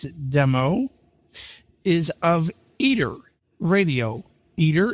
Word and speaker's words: Eter: Eater is spelled E T E R.